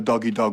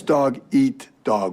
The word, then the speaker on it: dog eat dog: last night you said we live in a doggy dog world so well it's dog eat dog world yeah that doesn't make